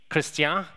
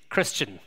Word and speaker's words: Christian: And my name in Ireland is pronounced a little differently to here. Here it may be Christian. Excuse my accent, if that's okay. In Ireland, our pronunciation is Christian. It's more flat. Our accent is not as beautiful as yours, I understand, but it's more flat, and this is how I pronounce.